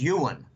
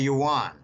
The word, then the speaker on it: yuan: are Chinese backgrounds and they say Jim the pronunciation is Ewan okay a lot of Americans call it the yuan I prefer to start